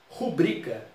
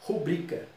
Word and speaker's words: rubrica: Rubrica. Rubrica. A tônica, segunda. Ela é paroxítona. Não tem acento.